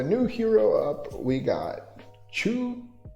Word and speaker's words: Choux: All right, so the new hero up, we got Choux. I think it's Choux. Usually X is silent, right?